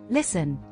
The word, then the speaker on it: listen: silent T rule one the letter T is silent in some words especially when t e n are at the end Christen fasten listen moisten soften rule two